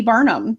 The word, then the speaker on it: Barnum: The name originally is from England, In England, it is spelled Barnham, but it's pronounced exactly the same. Barnum is Barnum, both sides of the Atlantic.